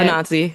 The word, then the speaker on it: Anansi: Baba Yaga, Anansi. I don't know if that's how you say it. Anansi, yeah.